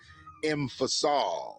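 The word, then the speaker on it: M.FASOL: say his name and his name is emphasal so check him out that's m period capital f a s o l m i i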